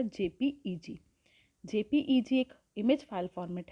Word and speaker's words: JPEG: Next, it is pronounced as JPEG.